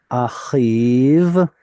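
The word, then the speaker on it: אחיו: Ki nishba achiv. We actually don't pronounce this yod anymore either, but chirik yod, so it's a convenient um convenient that the chirik is right here.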